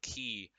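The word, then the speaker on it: Cay: park it was it's called treasure k or key depending how every way you want to pronounce it so now more than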